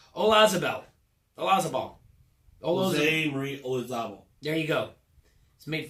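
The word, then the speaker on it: Olazábal: Jose Marie Olazabal.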